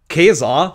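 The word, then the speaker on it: Caesar: child of child of Keser ne der Cesar wird nämlich eigentlich K ausgesprochen das C in Lateinisch ne ist eigentlich K egal children of Riot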